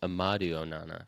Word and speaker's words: Amadou Onana: Mason, I think you got the first name wrong. I believe it's Amadou Onana for Aston.